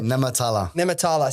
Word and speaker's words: Nehmetallah: I'm going to say Nehmetallah. How close? 99%. Fuck, I'll take 99%. Yeah, so Nehmetallah.